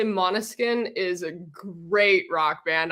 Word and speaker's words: Måneskin: Måneskin. Måneskin. Right? Am I close, Federica? No, she's backstage going, oh, I got 2 thumbs up. That's good. But Måneskin.